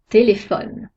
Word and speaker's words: téléphone: Quand la dernière syllabe est muette, comme dans téléphone, la syllabe ne est muette, on accentue la syllabe précédente, téléphone.